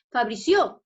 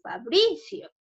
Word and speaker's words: Fabricio: Entonces yo diría Fabricio. No, profesor, está mal pronunciada, sería en bri, Fabricio.